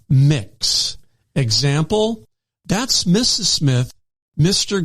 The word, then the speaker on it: Mx: neutral pronoun for these circumstances is MX uh pronounced mix example that's Mrs Smith Mr Green and mix